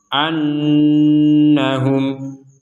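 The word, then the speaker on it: أَنَّهُمْ: berhenti sebentar di sini ada Nun bertasydid maka kita mendengungkannya atau kita membacanya dengan disertai dengungan annahum an Anna jadi untuk Nun bertasid ini kita mendengungkannya 100% jadi tidak setengah-setengah kalau setengah-setengah jadinya nanti samar an Anna itu samar-samar maka kita dengungkan 100% di rongga hidung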